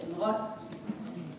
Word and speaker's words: Mrocki: by Miss fredi or she's told me to pronounce it in yish mski before we begin I